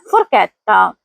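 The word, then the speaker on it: forchetta: यहां सी के बाद एच ई आया है इसलिए आवाज फिर के की होगी। सही तलफुज है फुरकैतता।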